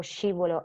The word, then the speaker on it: scivolo: So if you put sceriffo, scivolo e ascensore in the sweet sound column, that's correct.